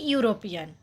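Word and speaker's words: European: যেমন এ ইউরোপিয়ান, উচ্চারণটা হবে ইউ।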